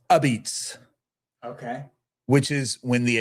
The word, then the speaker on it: apizza: There's a place called Ozzy's Pizza, and it's spelled Apizza, which is pronounced Abits.